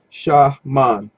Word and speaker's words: shaman: used by all cultures shaman is pronounced shah man and it comes from